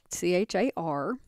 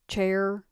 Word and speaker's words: char: going to enter is c-h-a-r and i've heard that pronounced chair car char i'm going to call it care and you may hear me alternate back and forth because it's short for character and i'm going to